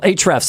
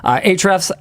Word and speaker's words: Ahrefs: Ahrefs, excuse me, I pronounced that wrong. I always do that. Ahrefs, there's also a special extra sponsor today.